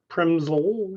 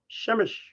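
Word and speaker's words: Przemyśl: y s l but you don't pronounce it primsol you pronounce it shemesh so if you want to learn how to speak polish i'm really happy with you because nobody wants to learn that's too hard but shemesh or premzel i like to say is this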